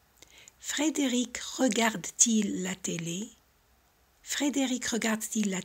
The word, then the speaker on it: Regarde-t-il: Regarde-t-il la télé? Y también colocamos la T porque el verbo acaba en vocal y el pronombre empieza con vocal para que facilitemos la pronunciación.